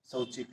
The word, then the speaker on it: शौचिक: कुछ बच्चे इसको ओ उच्चारण करते हैं, जो कि गलत है। औ, औ औरत। सौ।